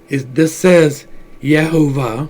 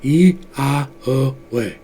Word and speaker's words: Yahweh: But this says Yehovah, but that's not quite right. If you look at the Kabbalah, they tell you the pronunciation of it is Yahweh.